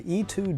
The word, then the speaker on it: E-Twow: it freakin rips let me show you the e2 GT and yes that's apparently how it's pronounced really surprised to me in the speed